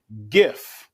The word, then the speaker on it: GIF: and it stands for It's GIF. graphic something that computer people know more than me. And graphic is a hard G.